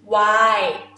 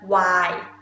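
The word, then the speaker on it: ไวน์: Okay, and wine is why, why? Not really put N sound at the end, just why.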